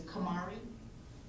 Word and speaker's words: Kamari: I have, Your Honor, and I just want to correct for the record, I don't know if you pronounce the name, it's Kamari, and I have had the opportunity to speak with him, yes, Your Honor.